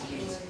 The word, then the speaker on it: Keynes: Well, the pronunciation in English is Keynes.